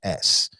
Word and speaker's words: Flemons: His last name is Flemons. The name of his design company is Flemons, phonetically Phlemuns.